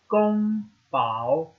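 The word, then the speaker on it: 宫保: really important to learn how to say it Gong Bao in most chicken dishes in China use all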